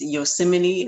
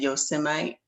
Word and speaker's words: Yosemite: Yeah, he gave a few coded messages today in a speech about it's Yosemite is how you pronounce it, but he said Yosemite.